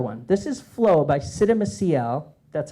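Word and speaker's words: Csikszentmihalyi: This is Flow by Siddha Maciel. That's how you pronounce that.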